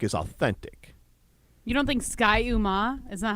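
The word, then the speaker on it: Ski-U-Mah: You don't think Sky Uma? Is that how you pronounce it? Ski-Uma. No, it's not. Sky-Uma. Is it Sky-Uma?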